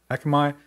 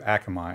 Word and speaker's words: Akamai: How do you pronounce that? Akamai.